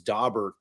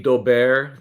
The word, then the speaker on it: Daubert: And I prefer the Daubert, the kind of the French pronunciation.